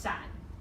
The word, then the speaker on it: 伞: So this is the word for umbrella, and it's pronounced san.